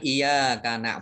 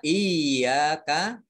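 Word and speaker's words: إِيَّاكَ: Bacanya jangan iya karena budu wa iya karena stain, ya, tapi iya-nya dibaca double, iya-nya. Ada tasdid. Iya, jadi ditekan.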